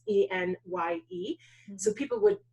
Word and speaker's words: Enye: know, why is it E-N-Y-E? It's because literally that's the phonetic spelling. So if you look it up, it's E-N-Y-E.